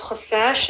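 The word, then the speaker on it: خفاش: Khuffash means bat, and it's a kh.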